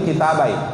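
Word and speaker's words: كِتَابَيْ: Kemudian yang terakhir, warwina fi kitab Ibni Majah wa Ibni Sunni, diriwayatkan kepada kami di dalam jadi bacanya itu kitabai, ya, dibuang nunnya. Karena dua kitab di sini, kitabnya Ibnu Majah dan Ibnu Sunni.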